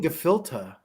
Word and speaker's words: gefilte: yeah all right man i felt gefilte man why are they saying gafilta it's just the way it's pronounced yeah yeah oh hold